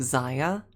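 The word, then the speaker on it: Xayah: I take the legs of like Zia as an inspiration.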